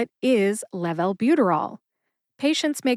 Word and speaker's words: levalbuterol: buterol emphasize Lev and bu officially gets the most emphasis see if you can hear the emphasis when I say it slowly Lev Albuterol let's move on to